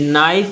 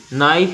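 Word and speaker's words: knife: फिर नाइफ में क्या है साइलेंट, के है, ठीक है, के। नाइफ इत्ते का उच्चारण होता है कि नाइफ नहीं पढ़ते अपन।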